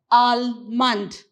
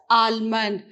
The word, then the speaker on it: almond: pronounce this word as al-mand how do you pronounce you pronounce it as almond so here you remove the letter l here it's how do